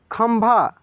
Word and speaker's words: खंभा: देखिए खम म तेज़ी में उच्चारण हो रहा है, लेकिन भा पूरा उच्चारण हो रहा है, इसलिए आधा म लिखेंगे।